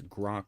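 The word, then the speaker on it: Groq: It's Groank, but it's spelled different.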